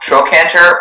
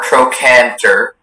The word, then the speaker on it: trochanter: The word can be pronounced trochanter or trochanter, and it's a noun,